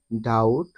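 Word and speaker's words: doubt: টি এল ই subtle এখানে প্রতিটি শব্দে বি এর পরে টি রয়েছে যার কারণে উপরের এই নিয়ম অনুযায়ী প্রতিটি শব্দে বি এর উচ্চারণ সাইলেন্ট হয়েছে অথবা বি অনুচ্চারিত রয়েছে আশা করি সকলেই বুঝতে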